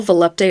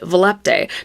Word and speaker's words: Volupté: actually quite a bit of debate about how volupte is pronounced. Some people say it's volupt. Some of my books spell out that it's supposed to be Volupe, and then some people, like me, say Volupte.